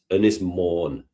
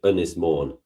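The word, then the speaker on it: Ynys Môn: Anis mourn.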